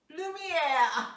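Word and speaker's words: Lumière: Lumiere. Oh, yeah. Is that how you pronounce his name?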